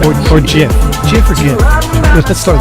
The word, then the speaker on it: GIF: Everyone knows it's a hard G. Otherwise, it would be spelled with a J, wouldn't it?